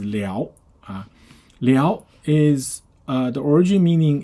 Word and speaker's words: 燎: So this one has three pronunciations. Okay, when you pronounce differently, the meaning differs slightly. Okay, so the first pronunciation is liao.